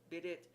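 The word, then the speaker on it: bidet: figuratively a young wench bidit commonly pronounced bidy a kind of tub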